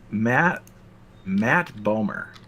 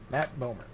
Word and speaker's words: Bomer: Matt Bomer. Spell it Bomer? B-O-M-E-R? Matthew Bomer. Matt Bomer.